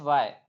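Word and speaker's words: why: पढ़ेंगे व्ट पढ़ेंगे उसी उसी प्रकार डबल एच वाय डब्लू एच वाय इसमें भी एच आ रहा तो यह भी क्या होगा साइलेंट होगा तो इसको पढ़ेंगे वाय क्या पढ़ेंगे वाय पढ़ेंगे यह था रूल नंबर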